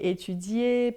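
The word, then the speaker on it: étudier: Lembrando que e er sempre sempre no final a gente só vai falar e não vai falar o r final.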